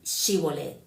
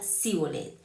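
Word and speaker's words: Shibboleth: Si él respondía no, entonces le decían, "Ahora pues di Shibolet." Y él decía Sibolet porque no podía pronunciarlo correctamente.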